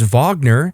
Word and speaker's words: Wagner: the United States and their last name is Vagner, which is spelled W A G N E R, and they wanted people to say Vagner instead of Wagner, they wouldn't be the jerk.